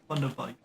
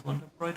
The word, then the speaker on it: Thunderbite: Thunderbite. Right? Bite. Thunderbite. Did I ever pronounce it as Wonderbright?